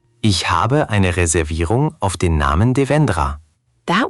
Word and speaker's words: Reservierung: Reservierung is the tricky part. The emphasis goes on the third syllable. Reservierung. Try just that word. Reservierung. Reservierung. Ich habe eine Reservierung auf den Namen Devendra.